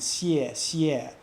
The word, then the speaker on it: 谢谢: That SY sound, 谢谢, that we use to pronounce the X in the pinyin of 谢, that doesn't really have an analog in English. It's just something you have to learn and get exposed to and listen to 10 or 20 or